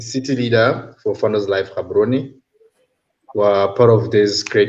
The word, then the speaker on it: Gaborone: Well, Ian taught me how to pronounce Gaborone the other day. I used to call that Gaborone, but Ian said that's Gaborone.